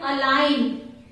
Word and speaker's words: align: Then align. Here G is silent.